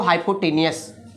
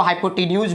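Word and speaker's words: hypotenuse: बहुत लोग इसको प्रोनाउंसिएशन हाइपोटेन्यूज भी करते हैं, ये आपकी मर्जी, आपको क्या करना है वो आपकी चॉइस।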